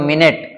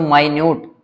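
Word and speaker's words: minute: अगर मैं इसको प्रोनाउंस करूं माइन्यूट, तो इसका मतलब हो जाता है कोई बिल्कुल ही छोटी चीज हो, माइन्यूट डिफरेंस, है ना।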